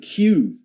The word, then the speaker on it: queue: Number 27, the word Q, which is a strange word in terms of its pronunciation because it's basically the letter Q followed by 4 unnecessary letters, isn't it?